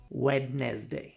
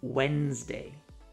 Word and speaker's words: Wednesday: The common mistake, wedd. Yep. English decided to throw out an entire syllable because why not? Many languages actually pronounce every letter. So, it's natural for learners to want to say wedz day, but nope. English hates consistency. Think of it as Wednesday. That's it.